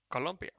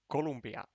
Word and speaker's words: Colombia: Uh, Is it pronounced with two O's? Originally in two O's. Ah, well, you learn something every day. Damn Finnish. Because in Finland, in Finnish, it's pronounced with a U. Columbia.